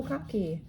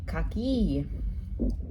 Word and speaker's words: kaki: And I know that in Italian it's cocky. So I said, "Oh, cocky." And they looked at me like, "What?" They said, "Oh, kaki."